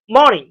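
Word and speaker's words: morning: মর্নিং, মর্নিং। ম, ম, ম, ম, ম, নিং, মর্নিং। আর উচ্চারণ হবে না।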